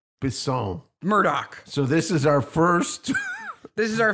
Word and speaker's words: Bisson: Bisson.